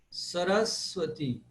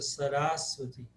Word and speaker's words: Saraswati: Saraswati. Saraswati. Também. O Ra é seguido de S e V. Então, tem duas consoantes. Isso faz com que essa vogal fique pesada. Por isso a pronúncia Saraswati.